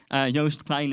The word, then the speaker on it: Joost Klein: I'll try and pronounce it in English. Joost Klein in Dutch.